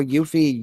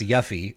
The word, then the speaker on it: Yuffie: it correctly but uh I'm just saying y-u-f-f-i-e that's yuffie that's how you pronounce that well that's a stupid